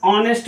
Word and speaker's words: honest: HONEST, इसको हम ऑनेस्ट बोलते हैं, ऑनेस्ट, इसको ऑनेस्ट बोलते हैं।